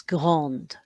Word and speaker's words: grande: So you've got grand, put an E on the end, D sounds grande.